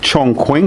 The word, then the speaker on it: Chongqing: Now, you're going to Chong Quing, is that how you say it, Heiko?